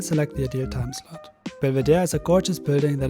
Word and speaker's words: Belvedere: It is not pronounced in the name of the palace because of the French influence in Austria.